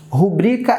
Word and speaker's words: rubrica: fala presta pública nunca O correto é rubricar rubrika é a palavra correta tá pública de que